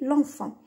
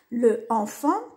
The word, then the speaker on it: l'enfant: واش يديروا ينحو هذه يعوضوها بالابوستروف باش تولي لونفون. دايوغ في النطق كي نقولوا لو انفون شغل تجي صعيبه، مي كي نقولوا لونفون تجي سهله.